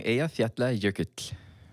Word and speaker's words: Eyjafjallajökull: Oh, the last song, Eyjafjallajökull.